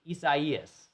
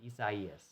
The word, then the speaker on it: Isaias: Isaias. That's how you pronounce it. Isaias.